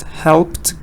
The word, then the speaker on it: helped: Heated, needed, wasted, waited, helped, good, Zahra, it's the te sound. Helped, the te, and it's number 1.